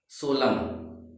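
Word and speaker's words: solemn: ऐसे देखिए क्या हमारा है, सोलम। क्या पढ़ेंगे इसे हम, सोलम। एन से पहले क्या है, एम है, तो क्या हो गया हमारा, एन साइलेंट हो गया।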